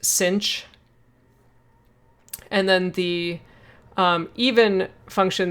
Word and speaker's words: sinh: And sometimes this is actually pronounced sinh.